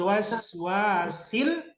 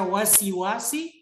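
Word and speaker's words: الوسواس: Kalau ketemu Ki orang baru dia baca wasi-wasi, kasih tahu Ki, kasih tunjuk langsung Al-Qur'an, kasih tahu Ki, sa yang pertama itu sukun. Jadi dibacanya harus waswasi.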